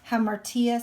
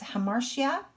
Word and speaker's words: hamartia: His greatest flaw, again, his fatal flaw, sometimes called or hamartia, some people pronounce this hamartia, his willingness to trust those around him, right?